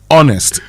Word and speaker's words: honest: That H is silent. Honest.